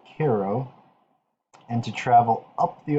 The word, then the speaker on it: Cairo: intention was to reach cairo cairo as it spelled but they pronounced it cairo and to travel up